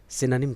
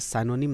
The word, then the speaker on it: synonym: SYNONYM इसका pronunciation है सिनोनिम। सिनोनिम, आप इसे साइनोनिम ना पढ़ें, एंटोसाइनो ना बोलें, सिनोनिम।